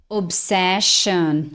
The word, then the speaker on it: obsession: Obsession.